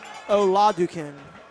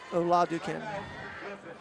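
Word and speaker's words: Oladokun: in the radio uh helping us with the pronunciation of the quarterback. It's Chris Oladukin Oladukin.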